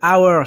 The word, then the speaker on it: hours: heure je rappelle que le h de hours c'est un des rares h en anglais qui est 1 h muet ont conduit un arbre